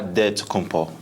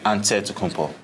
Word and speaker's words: Antetokounmpo: in a real way you gotta say with a d so it's a dead compo but in the greek way you say with the nt like antetokounmpo whatever you got just